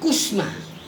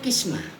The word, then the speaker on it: qismah: di sini berkaitan kalimat ini pasti dibacanya Fisma ya Fisma bukan kos mah bukan Kusma Sisma pasti nih bacanya Kisma artinya apa kismat Illahi